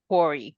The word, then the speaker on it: Couri: Lori Mann and Couri. Is your last name Couri? That's how we pronounce it, Couri? It's more of an ooh sound, and So Couri. Couri.